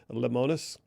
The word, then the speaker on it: Lemonis: name of Marcus, and I'm probably doing a disservice to his last name, but I believe it's pronounced Lemonis.